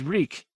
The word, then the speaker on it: Reek: mouth opened and closed my name is reek it rhymes with leak in the dark he